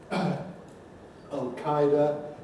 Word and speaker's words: al-Qaeda: my entry for well we call it al-qaeda usually in english though you can also there is other things like al qaeda al qaeda al qaeda and so on and well there's the arabic pronunciation which is more or less al-qaeda we've got speaker of